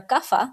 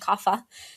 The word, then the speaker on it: Kapha: And either you are Vata, Pitta, or Kapha, like you said, and in the West we pronounce them Vata, Pitta, and Kapha.